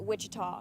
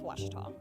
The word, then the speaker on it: Ouachita: searching for Baptist University back in Texas everybody pronounces it Witchita but really it's was was how would you pronounce it it's was